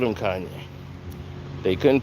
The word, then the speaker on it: Kanye: it in the rhine my name is kanye not kane everybody must pronounce it